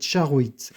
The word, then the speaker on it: charoïte: À noter que la prononciation correcte de ce nom est charoit.